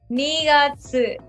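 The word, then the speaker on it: 二月: 2月、 Nigatsu.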